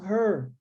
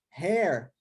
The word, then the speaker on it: her: Olha a pronúncia, hein? Her, é fechado, né? Her, tá bom? Porque se você fizer essa pronúncia aberta, hair, você está falando de cabelo. Hair é cabelo em inglês. Então, aqui a pronúncia é her, fechado. Her name, tá bom?